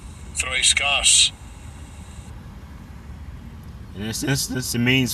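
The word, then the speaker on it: θρησκός: It is G2357, and I'll give you a pronunciation. Strong's G2357. Threiskas. Threiskas.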